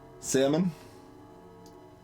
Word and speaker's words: salmon: of Mau over Mo salmon L is silent in uh my salon